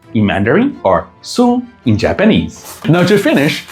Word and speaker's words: 寸: It's read 寸 in Mandarin or sun in Japanese.